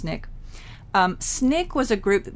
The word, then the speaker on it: SNCC: students formed called snick it's an acronym s and CC it stands for the Student Nonviolent Coordinating Committee SNCC pronounced snick snick was a group